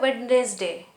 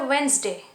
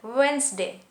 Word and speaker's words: Wednesday: It is wrong to say Wednesday, but right to say Wednesday. Okay? So pronounce rightly Wednesday. D is silent here. Wednesday.